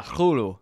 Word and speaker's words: Cthulhu: I reading what um what Lovecraft said that the actual Cthulhu pronunciation is yeah Hulu it is the C in the TR pronounced at the same time cool Kol oh yeah